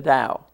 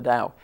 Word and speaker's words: Tao: beliefs known as the Dao spelled t-a-o but pronounced just like Dow Jones the Dao the symbol of the